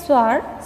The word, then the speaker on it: sword: so next one one sword sword in this word w is silent letter then design design in